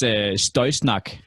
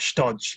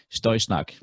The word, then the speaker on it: Støysnak: It's Støysnak. Støy. So not stodge, like I always say. Nope. It's Støysnak.